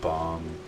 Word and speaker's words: bomb: Does it ever bother you that in English there are words that end at B's that aren't pronounced, like bomb and climb?